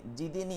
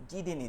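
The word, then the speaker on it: زدني: মধ্যে রব্বিনি ইলমা রব্বিনি জিদিনি অনেকে উচ্চারণ করছেন জিনি জিম থেকে ঠিক আছে আমরা দেখি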